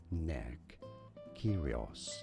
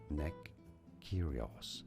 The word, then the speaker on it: Nick Kyrgios: Nick Kyrgios. Yes, the G is essentially silent. Oh, you do not pronounce it. Nick Kyrgios.